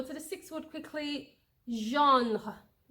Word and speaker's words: genre: It's just genre. Some people don't say the. That's how it's pronounced in French. Genre. You can spell it in French, if for pronunciation purposes, as JAHN, but in English it is same spelling though, GENRE. In French it's called genre. In English, genre. It's je, but genre and genre. It doesn't land in French, okay?